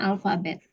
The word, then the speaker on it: alphabet: itu dibaca FL Eleven sama kayak alphabet tulisannya alphabet tapi kan bacanya bukan alphabet ya bacanya alfabet handphone bukan handphone bacanya